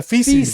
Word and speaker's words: feces: like my own like FES cuz I have lost my mind that let be right on the wall with my fees what what did I say it wrong yeah feces feces yeah fees like fish